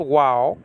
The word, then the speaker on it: vav: It's called wow, okay? And but this is pronounced wa or that, if you will, okay? Well, according to biblical Hebrew, it's really with a W sound, okay? But you can pronounce it in either way.